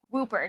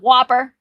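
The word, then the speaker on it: Wooper: It's hard to say if anything specific causes Whooper, not Whopper.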